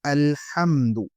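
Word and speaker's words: الحمد: Et attention avec la prononciation de la lettre Ha. On dit Ha. Ce n'est pas Ha. Il n'y a aucune personne ne peut pas dire Alhamdu ou bien Alhamdu. On dit Alhamdu.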